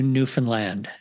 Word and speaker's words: Newfoundland: all the way to newfinland did I say that right Andrea you sure did thank you I've been practicing before we started recording Andrea taught me the correct way to say it New Finland if you don't know